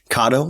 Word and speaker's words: Kado: question um is it is it called or is it pronounced KO or kado kado like avocado the translation actually is